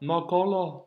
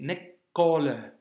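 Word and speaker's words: نقول: C'est pas nakola ici, tu vois, et c'est pas non plus nekele, c'est nekole. Tu vois, lettre amincie, lettre emphasée, lettre amincie.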